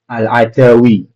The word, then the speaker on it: Al-Adawi: Di sini nama rawinya Mahmud ibn Ghailan, nama yang nama masyhurnya yaitu Mahmud bin Ghailan al-Adwi atau apa itu cara bacanya ya? Al-Adawi.